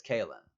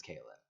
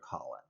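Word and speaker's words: Kahlan: the main female lead, her name is spelled like Kailyn or something like that, like something that goes between Kaylin and Colin, but it's Kaylin. Everyone knows it's Kaylin, right? And this fucker called her Colin for a whole book,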